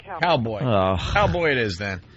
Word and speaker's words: Caoboi: His name is Cowboy. Oh, really? Yeah, even though it's spelled... Yeah, it's spelled Caoboi. All right, Cowboy.